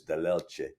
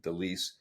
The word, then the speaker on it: Dellelce: It was actually spelled differently as well. It was Dell apostrophe uppercase ELCE. So it is Dellelce. But anyways, it got anglicized or francophone to Dellelce many years ago in Sudbury.